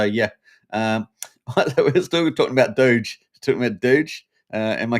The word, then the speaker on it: Doge: We've got, except the E is silent. A Doge. Doge. Without the E.